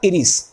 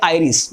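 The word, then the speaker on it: iris: इसका नाम क्या होगा, इसका नाम होगा इरिस या आइरिस, जो भी आप बोलना चाहो, जैसे आप इसको प्रोनाउंस करते हो, है ना।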